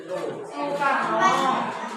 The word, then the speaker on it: Soekarno: Jangan salah membaca O dengan E menjadi U.